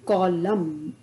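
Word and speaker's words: column: रहा है तो हम कॉलम एम तक इसका उच्चारण करेंगे एन का उच्चारण हम नहीं करेंगे इस बात का हमको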